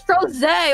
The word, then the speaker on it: Crozet: It's Crozet. Oh my god. T Crozet. T cross it. Crozet. Yes. We mispronounce in this channel.